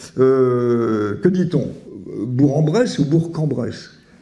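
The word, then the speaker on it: Bourg-en-Bresse: le jeu de 1000 € euh que dit-on bourambresse ou bourcambress bourcambress bon mais je le savais pas forcément hein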